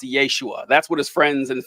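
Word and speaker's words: ישוע: you who don't know Jesus's name in Aramaic would have been pronounced Yeshua that's what his friends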